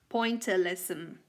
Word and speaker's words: pointillism: called pointer lesson again pointillism listen to this pronunciation is a pointer lesson next we have another